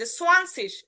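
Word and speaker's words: zwanzig: কিরকম, দশক স্থানীয় ঘরে দেখেন আমরা প্রথমটা একদমই চেঞ্জ, সোয়ানসিস, 20কে বলে হয় সোয়ানসিস, 20কে বলে সোয়ানসিস, সোয়ান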